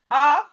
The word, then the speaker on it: half: Words with silent letter L. We have calf. Calf. The L here is silent. The L here is silent. We have K. A, calf, calf, calf, calf. We have half, half, half, half. We have salmon, salmon.